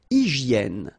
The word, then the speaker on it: hygiène: Une hygiène. So remember we've got this Y here, vowel, and it's pronounced like E. E, okay? Hygiène. H doesn't exist, H doesn't exist in French, so hygiène.